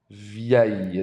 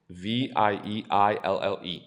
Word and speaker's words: vieille: Vieille. Notice there's two I's. It's Vieille. Vieille. Vieille. There's no L. It's aïe. Vieille.